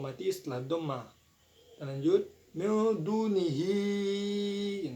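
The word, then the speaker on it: دونه: Nah, sini ada hukum bacaan mad silah tawilah yaitu di kata hi. Nah, sebab hadomir bertemu dengan huruf hamzah yang berharokat fathah dalam satu kalimat yaitu min dunihi jadi itu. Dan panjangnya boleh 2, 4 ataupun 6 harokat.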